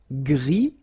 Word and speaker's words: gris: Gris, don't pronounce the S, but then for the feminine form, grise.